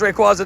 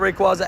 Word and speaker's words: Rayquaza: It's Rayquaza, not Rayquaza.